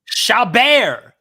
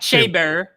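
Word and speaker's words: Chabert: with the HBO snowman shabar not shabber sh for for this for this you want to use the proper French initiation or the French pronunciation I will not have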